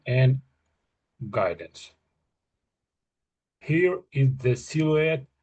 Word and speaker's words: silhouette: That's exactly how you say it. Silhouette. This French word.